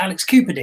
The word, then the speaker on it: Alex Cupidi: It's like, I created this character, and somebody asked how do I pronounce Alex Cupidi, and I pronounce it Alex Cupidi, and I'm not sure how you should pronounce it, but that's how I do.